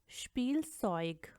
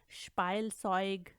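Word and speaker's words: Spielzeug: आप नोट करें कि इनको अगर आप इनकी तरह प्रोनाउंस करेंगे जैसे कि डाइब, स्पाइलसॉइग, लाइबन या लाइगन तो ये गलत होगा।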